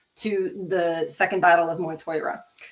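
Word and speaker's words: Mag Tuired: But I'm pretty sure that's how you say Moytoira. It's actually spelled mag-tired, but it's Moytoira.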